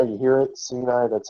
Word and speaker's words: Sinai: Well, when God met with the children of Israel at Sinai, you guys know what is Sinai? You hear it? Sinai, that's how you pronounce it properly.